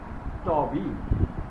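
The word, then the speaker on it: Thoby: Okay, so just after 2 years, our writer's immediate elder brother Toby, TH will be pronouncing not Thaw, it will be Taw. Toby.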